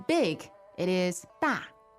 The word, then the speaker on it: 大: And to say big, it is 大。大 fourth tone. Okay, da, right?